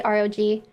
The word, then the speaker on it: ROG: uh republic of gamers i always say rag but a lot of people say rog i just make it